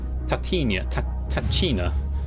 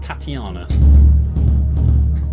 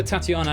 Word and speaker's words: Tatiana: I think B is pronounced Tatiana. Just to clarify. Tripping over my words there. Olga, Tatiana, Anastasia or Anastasia, Sergei or Maria.